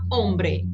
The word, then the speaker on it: hombre: O H, ele não tem sonido alguno, não se aspira, não se pronuncia. Então, olho, hembra, hombre.